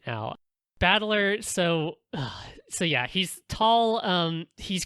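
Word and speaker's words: 戦人: But his name is literally the kanji for fight and then person, which... that's why I have a note that says, That's... But it's pronounced Battler, and so all the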